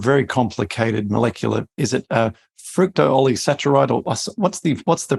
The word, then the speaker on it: fructooligosaccharides: Now, FOS is an acronym for a very complicated molecular, is it fructooligosaccharides, or what's the pronunciation of that? You pretty much got it, fructooligosaccharides.